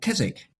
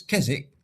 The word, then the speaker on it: Keswick: the other is Keswick is that Chiswick is the classic English change from k to ch. And in the north, thanks to the Vikings and bringing the Scandinavian pronunciation, cheese stayed with a with a hard K sound.